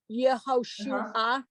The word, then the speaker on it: Yehoshua: as in uh Joshua yehoshua yeah you get the two vowel sounds next to each other